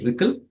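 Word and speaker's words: RCCL: own ROCm collective communication library, and it is pronounced as RICL.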